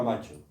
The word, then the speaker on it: macho: en francés era macho, que es como pronuncian ellos la palabra macho. Ya sabéis que en el francés acentúa la última sílaba.